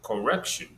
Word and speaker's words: correction: You gave the example correction, rec is stressed.